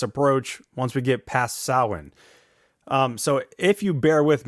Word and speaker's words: Samhain: as Samhain, but pronounced Samhain. Phonetically, there's a couple other ways that it's been spelled out, such as SOW, as in cow, and then win, WEN. But I think of it as SAUWEN, Samhain.